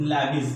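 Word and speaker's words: Lewis: सुनना बेटा, लुईस concept हो गया, लुईस, जिसको इंग्लिश वाले लोग लैविस बोलते हैं। लैविस कॉन्सेप्ट, इंग्लिश और हिंदी के थोड़े प्रोनाउंसिएशन में अलग अलग आते हैं। हिंदी वाले बोलते हैं लुईस सिद्धांत, इंग्लिश वाले बोलते हैं लैविस सिद्धांत, कोई दिक्कत नहीं है।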